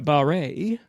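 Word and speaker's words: Barré: Okay, so Barry, who at that time pronounced his name Barre, B-A-R-E, accent aigu, and Barbara, they both changed their names, met in 1960.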